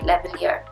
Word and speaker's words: lavalier: Is that how you say it? Lavalier. I think lavalier sounds correct.